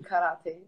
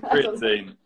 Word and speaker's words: creatine: I'm saying karate. Creatine? Creatine. Yeah, that's what it is.